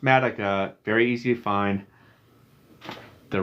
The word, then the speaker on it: Matuch: t u c h it looks like matucha it's pronounced madaka very easy to find